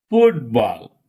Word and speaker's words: football: Okay, stress fall on first syllable. Look at these words. It will make it clear. Football.